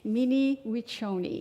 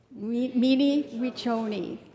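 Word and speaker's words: Mni wiconi: And I will try to pronounce it the way she taught me. Mini wonyi. You want to say it with me? Minimi wonyi.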